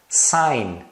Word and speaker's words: sign: tem ainda algumas palavras que terminam com GN e esse G é mudo Então você fala só o n Olha só foreign foreign tá vendo esse G você não pronuncia sign sign mesma coisa você só pronuncia o n final design design campaign campaign